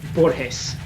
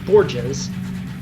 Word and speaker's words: Borges: And yes, uh you it it is pronounced Borhees because uh Spanish. Now, of course, I may be entirely wrong and that's not like a reference to Boreshees and I should be pronouncing it Borges, but I'm not wrong.